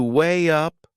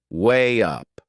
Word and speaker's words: weigh up: There is another linking sound in that phrase. To weigh up, weigh up. Can you hear it? We insert a little I sound.